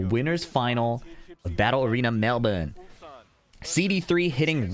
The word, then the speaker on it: Melbourne: Now, I actually have two matches and uh this they both happened at Battle Arena Melbourne. I think that's how you say it. It's not Melbourne, it's Melbourne.